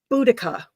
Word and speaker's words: Boudica: We'll just take a couple more comments and I know about how do you pronounce that again? Boudica.